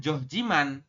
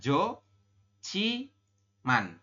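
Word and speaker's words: 좋지만: sesuai tabel cie ya Jadi anda membacanya bukan Joh Jiman tapi dibacanya adalah Jo Chi Man ya dibacanya adalah Ci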